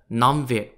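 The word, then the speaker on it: Nam Việt: n-a-n-y-u-e the nanya kingdom is known in vietnamese as the namvi spelt n-a-m-v-i-e-t i also reckon that's where vietnam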